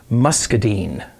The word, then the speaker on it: muscadine: And he made this from a type of grape called a muscadine. That's how it's pronounced.